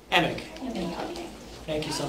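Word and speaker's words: Emig: Emick.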